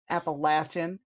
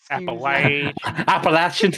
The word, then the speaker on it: Appalachian: Appalachian Mountains correct yes Appalachian Appalachian I don't want none of your your accents over here if you say it wrong I'm gonna throw an Apple at you oh no that's how you remember to say it right I'm in Ohio we